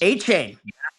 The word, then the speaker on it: Etienne: A chain. He's Now pronouncing it A chain now.